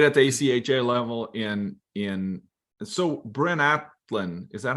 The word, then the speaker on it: Bryn Athyn: But fast forward, okay, so you played at the ACHA level in Bryn Athyn, is that how you pronounce it?